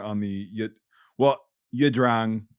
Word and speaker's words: Drang: the yet well yeah Drang is like how it's pronounced like whatever but Americans say I drank so I'll just say I drank from here on out but um so a